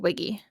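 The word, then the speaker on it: WIGI: but you had mentioned is it wi Wiggy wi gii how do you how do you say that yeah so it's women in games International Wiggy awesome and you were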